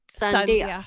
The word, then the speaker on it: Sandhya: how your name was so it's s-a-n-d-h-y-a so pronounce Sun Sunday yes all right beautiful name thank you thank